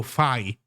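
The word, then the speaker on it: phi: Wait, usually pronounced like fine. Oh, fi. I see. So, you pronounce it fi. I think in Italian would be fi.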